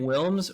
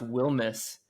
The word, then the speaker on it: Wilmes: And they were like, "Is your name Wilms or Wilmness?" And I was like, "It's pronounced Wilmness."